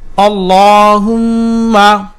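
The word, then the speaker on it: اللهم: রাজিম বিসমিল্লাহির রাহমানির রাহিম আল্লাহুম্মা হামজা জবর লামের তাসসিদ আল লাম খারা জবর দুই ঠোঁট গোল করে মোটা করে উচ্চারণ করতে হবে ল হার পেশ মিমে তাসদিদ ওয়াজিব গুন্না হুম মিম জবর মা আল্লাহুম্মা আল্লাহুম্মা আল্লাহুম্মা হা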